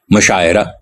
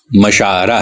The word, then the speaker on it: مشاعرہ: لیے گئے ہیں، جیسے مشاعرہ۔ یہ لفظ مشاعرہ ہے، عین پر زبر کے ساتھ، مفاعلہ کے وزن پہ، لیکن اسے مشاعرہ کوئی نہیں کہتا، مشاعرہ کے زیر کے